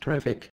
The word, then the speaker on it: Trewick: First of all, it's pronounced Trewick.